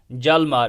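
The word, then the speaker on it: Hjalmar: जालमार। यहाँ पे एच जो है साइलेंट रहता है।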